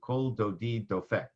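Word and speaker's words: קול דודי דופק: Delphic is how you say that in Hebrew cold o deed though feck the voice of my lover knocks that became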